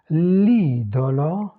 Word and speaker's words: idolo: L'idole, c'est ouvert. L'idolo, c'est fermé.